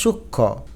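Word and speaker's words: সূক্ষ্ম: এটা শ্রীতি না কিন্তু স্মৃতি অর্থাৎ ম এর উচ্চারণ হয় নাই। যুক্ত ব্যঞ্জন বর্ণের ম ফলা উচ্চারিত হয় না। দেখো সূক্ষ এখানে ক্ষীয় কিন্তু যুক্ত বর্ণ।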